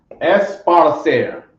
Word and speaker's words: esparcer: Esparcer. Come on. Okay, sounds like sparsely a little bit.